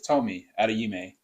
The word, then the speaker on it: Tomi Adeyemi: But jumping back in, the author is Tomi Adeyemi. That's how you Mhm.